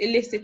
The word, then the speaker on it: illicit: Now, both words are pronounced the same way. The one with E is pronounced illicit as well.